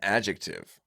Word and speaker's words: adjective: First of all, I just appreciate that you pronounced the C in that word. I've never heard anybody do that, and I've always wondered: is this how we're supposed to pronounce the word adjective?